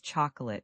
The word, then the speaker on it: chocolate: Many learners say chocolate with three clear syllables, but the correct way is chocolate with just two syllables.